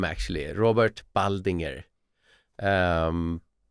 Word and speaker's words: Baldinger: Yeah, that's uh my my name actually, Robert Baldinger. Um, maybe that's hard to pronounce, but Bald as Bald if you're English and Inger like uh the name Baldinger.